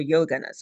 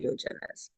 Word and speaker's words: yojanas: I don't know if you pronounce that yojanas or yoganas. I say yojanas.